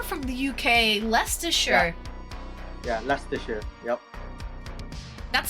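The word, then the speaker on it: Leicester: Yeah, Lester. Yep. That's spelled like L E I S S T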